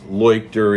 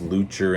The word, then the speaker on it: Leuchter: And by the way, in the film, his name is pronounced Leuchter in places, Lucher in others.